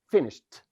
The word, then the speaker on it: finished: We add ed. We pronounce it et. Finished.